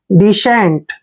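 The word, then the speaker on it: descent: सी ई एन टी देखिए डी का उच्चारण क्या कर रहे ड ई को छोटी की मात्रा पढ़ते हैं और यहां पर देखिए एस सी का उच्चारण हमने श करना है इकट्ठा ठीक है और ई को एकही मात्रा पढ़ते हैं एन को आधा न और टी को ट पढ़ते हैं डिसेंट देखिए डिसेंट डिसेंट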